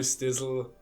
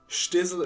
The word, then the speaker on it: Stizzl: it wrong so i you can call me stizzle stizzle i think is nice i think stitzel kinda sounds a bit stupid but of course also sounds stupid but shtizzle is the way it's intended to be spelled but uh pronounced but i think stizzle is also nice so i also like